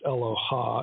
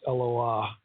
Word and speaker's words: Eloah: the the Hebrew word eloah it's not pronounced Aloha it's Loa and that is used